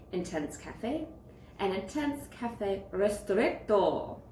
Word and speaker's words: Ristretto: Cafe and Intense Cafe Ristretto. I think that's how you say it. You have to say the strt and the to, so two T's, just like that.